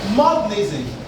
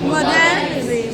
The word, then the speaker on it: modernism: Modernism. Modernism. How do we mispronounce that? Modernism. So we should try to guide against that mispronunciation. It should be modernism.